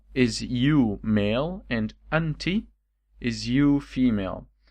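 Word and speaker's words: أنتِ: Is either you can say anta with the accent on the letter t, okay? So the accent like that is anta, and if the accent is below the letter is anti.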